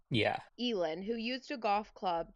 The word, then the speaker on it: Elin: Elin, who used a golf club to break the